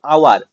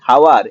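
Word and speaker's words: hour: আমরা অনেক ক্ষেত্রে দেখি এইস সাইলেন্ট থাকে, এই যে আওয়ার, এটাকে অনেক উচ্চারণ করে কি হাওয়ার, একদমই নয়, ভুল উচ্চারণ।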